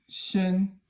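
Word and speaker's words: 身: Okay, so Shen is first tone and it means a body.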